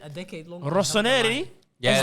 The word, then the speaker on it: Rossoneri: A Rosaneri. Rosaneri. Rosaneri had. Rossoneri.